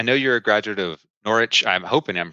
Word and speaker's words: Norwich: you're a graduate of Norwich I'm hoping I'm pronouncing that correctly there's no no W in there right so norch University Arts um but I'm